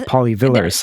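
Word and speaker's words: Pauli–Villars: And then there's polyvillars, if I'm pronouncing that correctly. Yes, that's right.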